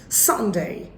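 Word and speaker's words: Sunday: ভিডিওতে ছিল এবং সাতবারের নামের প্রত্যেকটা নামের প্রথমে স্ট্রেস দিতে হবে উচ্চারণ হবে স্যাটারডে ডে নট ডে সানডে মানডে টিউসডে Wednesday Thursday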